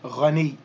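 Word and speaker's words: غني: So it should be ghaniyun, ghaniyun. And then we would drop the un sound at the end, and we would simply say ghani, ghani.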